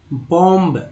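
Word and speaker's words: bomb: इसी तरह बॉम्ब, बॉम्ब नहीं पढ़ेंगे, बॉम्ब पढ़ेंगे, बॉम्ब, बी को नहीं पढ़ेंगे, बॉम्ब।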